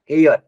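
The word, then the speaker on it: heir: honest man honorary post एयर ठीक है ये जो वर्ड है इसका क्या प्रोनाउंस होता है एयर ठीक तो इन सब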